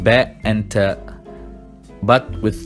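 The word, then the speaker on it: ت: Then we have ta, written exactly like ba, but this time with 2 points on top of the letter, and we pronounce it t, like a normal t.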